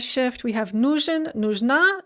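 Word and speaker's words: нужен: in the dative yamu note the stress shift nujin is stressed on the first syllable but nujna is stressed on the second syllable and then if we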